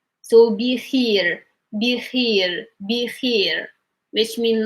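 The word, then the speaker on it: بخير: But this is just an example to show that when we have this like the I sound over here, we pronounce it as E. So be here, which mean like it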